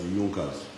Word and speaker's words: Junkers: It is written as Junkers, but they pronounce it as Junkers.